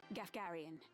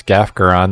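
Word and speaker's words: Gafgarion: That's not how I pronounce that. The princess. I kind of want to look at my last playthrough to see how I used to pronounce. I think it was Gafgaron that I used to call.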